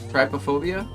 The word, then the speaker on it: trypophobia: Um, I have uh uh I always I can't pronounce this one. I've seen it millions of times. Let me tryopobia. Trypophobia.